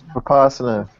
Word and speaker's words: Vipassana: I don't know how to pronounce it. I think it's Vipassana.